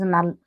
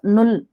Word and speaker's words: null: So 0 is called null, whereas in English we'll pronounce as null, Mm. null value. But here U is pronounced as U, Mm. so it's null.